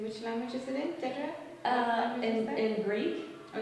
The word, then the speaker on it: Dedra: Name is Dedra. Is that Dedra? Well, it's Dedra, actually. Dedra. Yes. Is the right pronunciation.